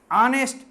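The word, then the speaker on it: honest: देखो यहाँ आगे, राजू इज ऑनेस्ट, ऑनेस्ट में साइलेंट है, एंड लेबोरियस में 2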